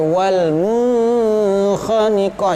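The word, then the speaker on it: وَالْمُنْخَنِقَة: Cara bacanya adalah wal munkhaniqah. Jangan sampai wal munkhaniqah, jangan sampai wal munkhaniqah.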